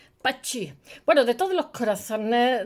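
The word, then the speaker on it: Pazzi: O sea, se les conjuraba gente y bueno, de hecho, a su hermano Lorenzo lo matan los Pacci. Es que se escribe ZZ. Pachi.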